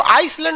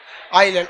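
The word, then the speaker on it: island: आइलैंड में ना S silent रहता है। इसको आइसलैंड नहीं पढ़िएगा, आइलैंड।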